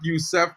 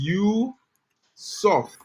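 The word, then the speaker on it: Youssouf: His name is not Youssef, bro. His name is Yusuf, right?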